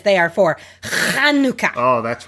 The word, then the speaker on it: Chanukah: That's what the C's for, to remind you. Yeah, it's not like I always when I say it, because I'm pronouncing it in an American accent. Right. You don't always have to, but It helps. it is technically Chanukah.